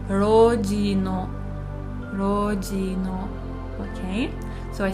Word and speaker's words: の: It is pronounced as no and it indicates possession.